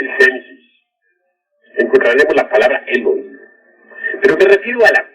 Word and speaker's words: Elohim: Ahora, Elohim es una palabra que se escribe con H, Elohim, que se pronuncia Elohim, porque la H suena como J, y significa diosas y dioses.